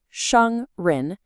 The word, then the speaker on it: 商人: Okay, this is 商人, pronounced 商人. So what tones do we have here? We have a first tone followed by a rising second tone. So the first part is high and flat, 商, and then the